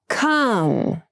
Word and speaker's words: come: Calm, come. Calm has the ah sound that's pronounced with the lower tongue position, and come has the sound.